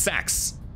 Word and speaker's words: CX: The CX is pronounced Sax.